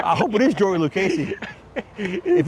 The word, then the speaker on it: Lucchesi: I Lugenza? don't want to say it the wrong way again. Lugenza, whatever his name is. Okay. Lucchesi? Yeah, it's pronounced Lucchesi.